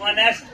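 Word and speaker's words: honest: लोग क्या है जो एच को ना साइलेंट रख करके और इसका प्रोनंसिएशन हम लोग ऑनेस्ट पढ़ते हैं क्या पढ़ते हैं नेस्ट ऑनेस्ट ठीक है तो यहां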